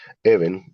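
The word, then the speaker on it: אבן: la en este caso la se pronuncia even y conforma la letra o la palabra eh even conforma la palabra eh av, ¿cierto?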